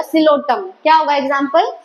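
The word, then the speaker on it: Psilotum: silks तो example होगा सिलोटिया पे साइलेंट है ठीक है तो सिलो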